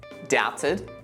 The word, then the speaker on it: doubted: you as you see the silent letter remains when you modify the base word by adding suffixes doubted doubtful with that in mind this